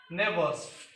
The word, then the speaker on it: neighbours: ସେତିକି ନାହିଁ, ତା ସହିତ ନେବର୍ସ କହିଲେ ପଡ଼ୋଶୀ, ନେବର୍ସ NEIGHBOURS, neighbors. So here another letter G. The letter G is also silent neighbor. Here the letter G is silent.